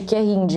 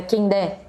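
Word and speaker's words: Kehinde: Eu queria me corrigir, assim, eu ficava chamando o nome da protagonista de Defeito de Cor na minha cabeça de Querinde, mas é Kendé. Eu já ouvi várias pronúncias, é Kendé, os 2 T's abertos.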